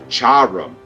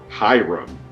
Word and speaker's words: Hiram: Hiram, not Hiram.